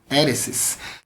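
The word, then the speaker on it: αἵρεσις: Novo Testamento você já aprendeu que é essa pronúncia do grego né para heresia heresis nós temos essa palavra em Atos 5:17 no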